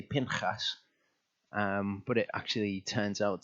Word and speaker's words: Pinchas: I've only just about got to the point where it kind of flows a bit more naturally to say Pinchas, but it actually turns out to be Pinchas when I read the Hebrew.